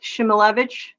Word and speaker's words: Szymelewicz: it's Shimilevich. You spell it Szymelewicz.